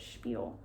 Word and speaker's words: spiel: my little spiel there spiel that's how you say it spiel okay well um this